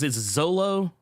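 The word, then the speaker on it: Xolo: I think it's Zolo. Zolo. Zolo Maraduena. See, I actually remember this. I always have to remember it's like Solo, but with a Z.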